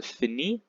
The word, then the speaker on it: finit: Je finis, tu finis, il finit, elle finit. S, S, and T are silent, so you will find that these three are pronounced the same way.